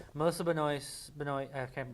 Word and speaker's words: Benoist: Regardless with the frustration with the screenplay for this episode, I will say Melissa Benoist, I can't pronounce it.